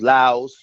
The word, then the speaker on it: lwa: They had a whole different system, and that whole different system was dealing with numerous laos, or you spell it LWA or LOA, and they were all dealing with aspects of nature.